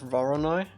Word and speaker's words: Voronoi: Some people pronounce Voronoi like Vor-on-I instead of Voronoi.